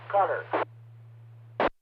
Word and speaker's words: Qatar: They weren't sure how to pronounce it, Qatar or whatever, but Wolf Blitzer said it's pronounced cutter.